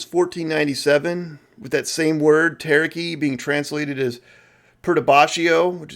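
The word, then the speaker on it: ταραχή: In ancient Greek, there was this word taraki, pronounced exactly like taraki.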